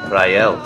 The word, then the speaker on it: Rael: my name is Rael some pronounce it ryel born in Washington DC